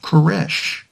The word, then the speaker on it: Koresh: take his name and in Hebrew Cyrus is pronounced koresh second that the newly